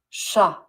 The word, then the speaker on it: chat: Sha.